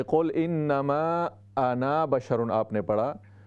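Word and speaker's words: أنا: साथ लिखा हुआ है, तो ये अलिफ साइलेंट होगा वसल की हालत में, मिलाकर पढ़ने की हालत में। कुल इन्नमा आना बशरुन, नून का सिर्फ ज़बर हम पढ़ेंगे, अलिफ नहीं पढ़ेंगे।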